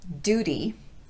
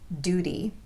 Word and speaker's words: duty: not du for example Duty not only do we drop the Y sound on this word but we also tap the T so it sounds like a light quick D sound Duty other words with d